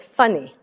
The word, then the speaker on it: Fanny: and my name was f-a-n-n-y which is fanny but they pronounced it funny so and my sister